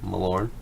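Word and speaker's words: Malorne: T that's Legend is awful how do you pronounce it malor malor yes malor he's fun in Arena when you get him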